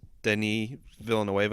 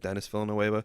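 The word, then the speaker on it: Denis Villeneuve: It's pronounced differently than it's spelled. I think it's pronounced Denis Villanueva. It looks like Dennis Villanueva.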